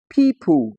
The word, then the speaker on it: people: Now in the word people, the e o here gives us the long e sound.